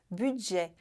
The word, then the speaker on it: budget: A sílaba forte é a última, budget. Não se pronuncia esse T no final, porque a regra diz que não pronunciamos a maioria das consoantes finais em francês.